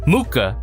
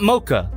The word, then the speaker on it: Mooka: confirm for everybody the figure is indeed called muka not mocha a lot of listings for this figure have her listed as mocha but it is indeed muka unless it's pronounced mocha but there you go